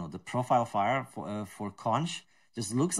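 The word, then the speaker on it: xonsh: I even run the weird shell that is called Z-O-N-S-H, but it's pronounced conch.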